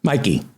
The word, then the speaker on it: MyQ: Netflix and MyQ Kaplan I say MyQ you pronounce it Mickey is that right Mikey Mikey Mikey Kaplan MyQ